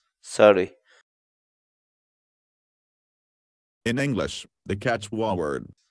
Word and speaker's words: saruy: series videos where we teach you how to pronounce certain words in Quechua so our word of the day for today is sorry sorry sorry in English the Quechua word sorry means to